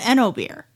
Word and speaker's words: Oenobier: We have Eno beer. That is spelled OENOBIER, for those of you who need to type that into anything.